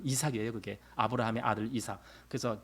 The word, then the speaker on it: 이삭: 미국 발음으로 아이작. 근데 우리는 이삭이에요.